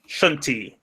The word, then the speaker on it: Shuntee: It's going to be called Shunti. Shuntee.